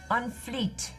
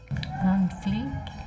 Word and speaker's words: fleek: On fleet. On fleet. Spell it. On fleek.